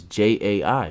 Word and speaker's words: Jai: You can't say Jai. Why can't you? It's Jai. Because he says it's Jai.